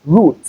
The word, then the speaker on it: route: All right, that's because we have the oo sound in between, not the sound. So it is root.